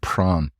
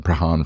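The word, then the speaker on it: Prahran: was down in Melbourne at a place called pran which uh if you're not from Melbourne is is spelled nothing like it's pronounced and I was calling prahan for a period of time but this session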